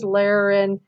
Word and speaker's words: laryngalgia: This is laryngalgia. So this is a special word because it's got the J sound here, and then the hard, it's got the hard G sound here, and then the soft G sound here. So it's laryngalgia. Okay. It isn't laryngalgia.